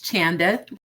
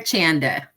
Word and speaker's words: Chanda: pronounce your name it's Chanda with a hard CH Chanda and yeah CH like chicken cheese chair Chanda rhymes with panda um that's the easiest